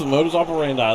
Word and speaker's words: modus operandi: Modus operandi, is that how you say it? Yes, modus operandi.